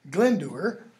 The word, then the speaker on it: Glendower: against the irregular and wild Glendower, that's how his name should be pronounced, was by the rude